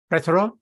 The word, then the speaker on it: plethora: The word of the day was plethora. The word has O in it, but that O is not pronounced as O. It is pronounced as a soft E.